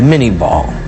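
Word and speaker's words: Minié ball: Today we call it the mini ball. Little corruption of the French pronunciation, but a conicle-shaped bullet's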